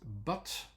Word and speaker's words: but: three kinds of words that are are with butt uh b u and T um you have